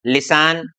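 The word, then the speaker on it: listen: यहां पर आप देखेंगे टीईएन है तो इसको हमें टी साइलेंट रहेगा। लिसन, often, फासन, ग्लिसन, सोफन।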